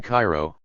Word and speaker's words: Cairo: so I anticipated a very racist environment in Cairo pronounced Koo Illinois 50 Mi south of Carbondale White